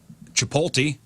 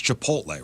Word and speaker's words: Chipotle: doing it on purpose it's Chipotle right yeah inip chipot it's Chipotle or chipot god dude you're talking